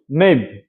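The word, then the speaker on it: knave: কে কে এন এ পি, ন্যাপ, এখানে কে উচ্চারণ হয়নি। কে এন এ ভিই, নেভ, মিন্স প্রতারক।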